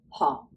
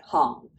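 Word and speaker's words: 行: And our last pronunciation for this character is our hong, right? Hong.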